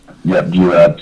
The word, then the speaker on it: Juab: So you got to take it, am I pronouncing this correct, Juab? Yeah, Juab.